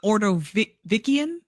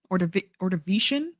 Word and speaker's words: Ordovician: during the late, did not look up the pronunciation of that word. It's the Ordovician. Ordovician.